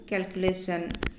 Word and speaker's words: calculation: Notice that information and calculation are pronounced with the stress in the third syllable. That is, we say the third syllable more strongly than the others. Information, calculation.